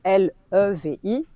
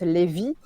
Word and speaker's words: Levi: Donc on est sûr que la transcription officielle, c'est L-E-V-I, donc le prénom Levi à l'anglaise. Je pense que dans l'animé et dans le manga, pour ne pas que les Français le prononcent Lévi, ils ont opté pour une autre transcription.